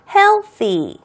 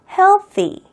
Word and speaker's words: healthy: 건강한 시민이라고 이야기할 때는 건강한 healthy. healthy. healthy. 자, 발음할 때 중요한 거. 이 th 발음은요, 여러분 부끄러워하지 마시고요. 혀를요, 과감하게 치아와 치아 사이에 위치를 두세요.